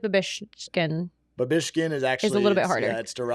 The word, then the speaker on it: Babischkin: But it's spelled exactly like it sounds. Yeah. So I feel like Babischkin. Babischkin is actually little bit harder.